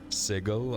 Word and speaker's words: Sigil: Sigil, I cringe every time I hear it, but that's the right pronunciation.